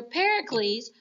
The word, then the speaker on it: Pericles: best under their leader Pericles which rhymes with Hercules so we can think of it as being the very best Pericles um is their leader